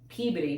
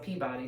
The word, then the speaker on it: Peabody: Because to me it's like, okay, there's Danvers, there's Peabody, because it's not Peabody, by the way.